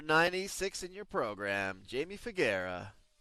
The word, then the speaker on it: Faggera: You know, she said this morning that's how you pronounce her name. She goes, "Think Mama Mia, but Faggera."